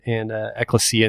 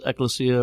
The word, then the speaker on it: Ecclesia: And you can kind of pronounce Ecclesia or Ecclesia. We tend to use Ecclesia for this one. Okay. There's definitely, both are proper.